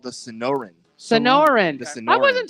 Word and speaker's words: Sonoran: It is called the Sonoran.